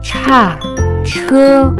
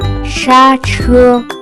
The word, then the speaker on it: 刹车: Next vocabulary that we have is brake foot, pressing a brake pedal, which in Chinese can be pronounced as 刹车, 刹车, 刹车.